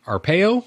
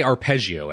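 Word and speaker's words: Arpaio: I always get his I can never say his name right I want to say arpegio every time I see it but that must be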